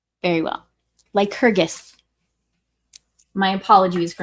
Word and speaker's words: Lycurgus: Lycurgus, so it's a hard G. Very well. Lycurgus.